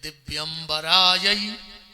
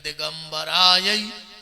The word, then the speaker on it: दिव्यंबराय: में बुलाने का तो शुद्ध उच्चारण इस मंत्र का यह है कि दिव्यंबराय च दिगंबराय और अपन जल्दी जल्दी में कहते दिगंबराय च दिगंबराय मतलब माता भी नग्न होके